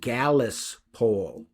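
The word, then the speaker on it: Gallis: and I believe in in Leadbelly's version it was called Gallas pole the it was G- A L L I S for the way he pronounced it but uh in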